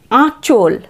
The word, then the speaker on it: আঁচল: পরের শব্দ আ চন্দ্রবিন্দু চ ল, আঁচল। আঁচল, আঁচল। শাড়ির যে প্রথম অংশটা থাকে সেটাকে আমরা বলি আঁচল, মায়ের আঁচল, তাই না? আঁচল। তারপর চল, আয়ের উচ্চারণ এখানে নাসিক্য, আঁচল নয় কিন্তু, আঁচল।